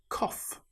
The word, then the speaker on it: cough: It's the same with cough.